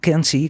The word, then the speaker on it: Kanzi: Y Kansi, que estaba por allí, Kansi, que se escribe Kanzi, si ponéis Kanzi, bonobo, veréis, bueno, tiene esta página de Wikipedia, es todo un personaje bonobo, ¿no?